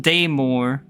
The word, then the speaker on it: Daymort: Daymort, pronounced Daymore, sprawls for unknown leagues underground, perpendicular to world slope.